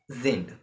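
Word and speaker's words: sind: is z and uh are and there are pronounce as zind right and this is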